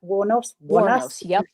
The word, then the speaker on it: Wuornos: So, as we know, Ailen Wanos, if I've pronounced Is that right? Waros.